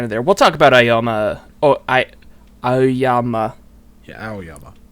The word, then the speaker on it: Aoyama: I hate it when words have A-O next to each other, because then you're just like, how do you say that? You say it like ow. And my brain freezes when I try like you to. You got a boo-boo, and you go, ow.